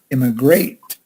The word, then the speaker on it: immigrate: the word immigrate immigrate the emphasis is on the last syllable great immigrate immigrate the process of